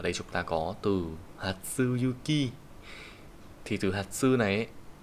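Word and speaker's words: 初雪: Ở đây chúng ta có từ Hatsuyuki. Thì từ Hatsu này ấy, nó chính là cái thằng sơ nhá. Sơ thì bây giờ nó không đọc là Hajime nữa, bây giờ nó đọc là Hatsu.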